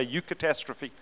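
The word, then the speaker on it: eucatastrophe: to you and say you catastrophe no I never said say you're a catastrophe it's you catastrophe that's how it's spelled up there this is what it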